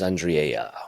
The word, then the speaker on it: Andriella: I pronounced that correct I gave you the Spanish Y for the Double L yeah I like it Andre and it's more Italian it seems Spanish but it's Italian yeah no but it's